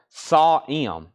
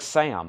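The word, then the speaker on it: Sahm: didn't miss anything else saw m it's pronounced Doug sawm really that's Doug sawm not Doug Sam okay Doug sa got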